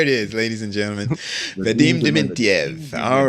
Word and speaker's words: Vadim Dementyev: I hope I pronounce it right. You made me nervous now. It's Vadim Dementyev. There it is, ladies and gentlemen. Vadim Dementyev.